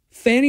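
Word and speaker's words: Fani: Fannie Willis, I think that's how you pronounce the name, F-A-N-I. It's either Fannie or Fonnie. I've heard it both ways.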